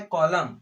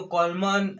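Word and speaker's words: column: तो क्या लिखा है, कॉलम। ठीक है, तो कॉलम ऐसे इस प्रकार से लिखा होता है ना, इसको कॉलमन ऐसे प्रकार से नहीं पढ़ते।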